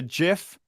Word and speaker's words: GIF: Also, it's a GIF and GNOME. Sort it out. GIF. If you wanted it pronounced GIF, spell it with a J, not a G.